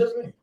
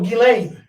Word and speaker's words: Ghislaine: She Who the knows fuck is Jizzanine? the bitch Jizzanine Maxwell. Oh, Ghislaine. The fuck? I said, who? Jizzanine. That's what the bitch's name was. No, Ghislaine. My bad.